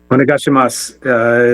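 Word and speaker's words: お願いします: Onegashimasu is one, and it has a U at the end, but you don't pronounce the U.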